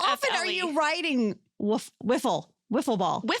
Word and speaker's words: Wiffle: It's not waffle ball. It's so spelled with an I. W I How often are you riding wiffle? Wiffle ball.